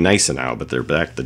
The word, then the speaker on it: Gneisenau: It's a little less G sound. I think it's Gneisenau. It almost sounds like they're saying Gneisenau, but they're back.